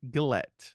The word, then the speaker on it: Gillett: Gillette. It's a hard G.